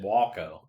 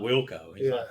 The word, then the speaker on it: Walco: I'm going to pronounce it Walco because Walco sounds. It's not Wilco. He's not kin to Steve.